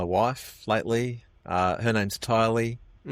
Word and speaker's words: Tylie: So, her name is T Y L and uh pronounced Tylie like Kylie.